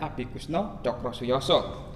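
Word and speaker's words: Abikoesno Tjokrosoejoso: Abi Kusno Cokrosuyoso, bacanya Abi Kusno Cokrosuyoso.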